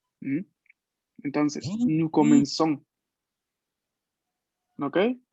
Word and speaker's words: commençons: Porque recuerden que la cedilla se lee como nuestra S. ¿Mm? Entonces, nous comenzons.